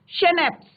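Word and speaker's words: Schnapps: इट is Christmas day Tommy, we have शेनेप्स। अब इसका pronunciation क्या होता है, शेनेप्स, ठीक है।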